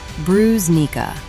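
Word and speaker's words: брусника: The next fruit is called brusnica, pronounced brusnica.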